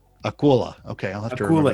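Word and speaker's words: акула: Akula. Akula.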